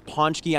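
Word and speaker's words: pączki: punch key although hey some of you at home are gonna say it's ponch key I know there's a lot of Polish viewers out there say hey say it right Matt a lot of people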